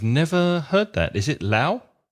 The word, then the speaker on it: Lough: Is it Lao? It's pronounced loch. A loch, like the Scottish loch.